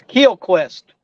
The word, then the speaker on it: QL Quest: That's Keel Quest. Okay. Like the keel of a boat.